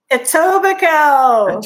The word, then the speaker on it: Etobicoke: say it at tobacco etobicoke etobicoke i knew i knew the uh the k k and e were silent at the end etobicoke etobicoke yes next